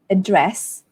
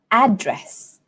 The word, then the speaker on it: address: it is this dress falls on the second syllable address but in American English we have two ways they also have address but they also have address so let's pay attention to this one address